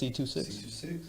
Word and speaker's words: C2Six: That's how you pronounce C2Six.